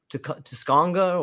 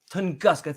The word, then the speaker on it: Tunguska: the Yucatan Peninsula, or the how do you pronounce that again? And the one in Russia, the Tusconga, or Uh, I forgot what that was called again. The I think it's northern Tunguska. Tunguska.